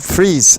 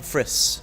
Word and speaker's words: Friis: Renwick sander doing a virtual interview of fries how do you say your last name Fritz Fritz so oh my god you're actually here I